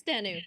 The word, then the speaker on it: Danu: is dan you doing did i say that right who i'm not sure if i said it right so okay what is khazer doing it's danu the uh irish goddess of the earth that's probably where i've